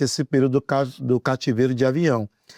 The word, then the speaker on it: Avignon: XVI, o cativeiro de Avignon, a gente pode pronunciar também Avignon, né, ele é lá do século XIV.